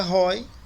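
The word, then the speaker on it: οἱ: Então a pronúncia aí seria ROI, por causa da aspiração que aparece em cima do iota.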